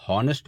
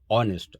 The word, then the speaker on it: honest: जैसे HONEST है, इसको अगर आप हॉनेस्ट पढ़ेंगे तो गलत है। ये एक्चुअली क्या है, ऑनेस्ट, आ, जैसे आ अनार, यानी